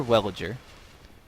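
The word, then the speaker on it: Wellager: I am the Chancellor, Belliger. Welliger. Do you seek Sorry. an audience with my Pronounced his name wrong.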